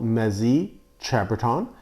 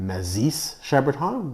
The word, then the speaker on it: Mazis-Chambertin: I used to pronounce it Mazis-Chambertin, which is not correct. In French, the S is silent and the I is sometimes like an E, so Mazy-Chambertin is, I believe, the correct pronunciation of this region.